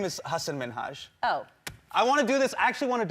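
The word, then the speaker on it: Hasan Minhaj: television good please because everyone that says your name says hassan minaj yeah but the real way you pronounce it and this is a big deal because my parents are here it's hassan minhaj and people always mispronounce it they're always like haseem menager hussein i'm so sorry i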